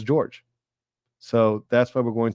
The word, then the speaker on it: Jorge: somebody mentioned that actually he preferred that his name be pronunciated as George so that's why we're